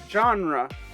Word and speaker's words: genre: this is an introduction genre which is a french word hence why it is pronounced this way has a simple definition